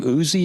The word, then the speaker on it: Ousey: so you've got Chris he pronounced his last name Uzi is that what you said yeah Chris usion vocals Nigel on drums it's spelled o-u-s-e-y whether it's housie but I I call it Chris Uzi anyway so Chris